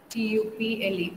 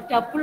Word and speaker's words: tuple: T-U-P-L-E, or tuple or tuple, any way you can pronounce.